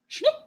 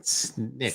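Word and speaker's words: snikt: Schnick. Okay. I said it right, didn't I? No, it's snicked.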